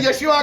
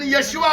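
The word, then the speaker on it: ישוע: अच्छा मरियम की कहनी सी उन्होंने, मरियम उसे यशुआ कहती थी। अब्रानी प्रोनाउंसिएशन यशुआ है।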